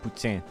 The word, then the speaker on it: poutine: It's actually pronounced poutine.